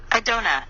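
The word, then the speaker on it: Adonai: but this time vibrate I done' my lord the AI is pronounced as in the word i 3 continue the blue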